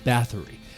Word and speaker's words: Bathory: Elizabeth Bathory. Now, they pronounce it Bathory, like she's a bat.